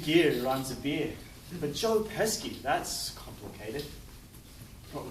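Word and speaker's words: Joe Pesci: you don't joe pesky rhymes with esky aneski is another australian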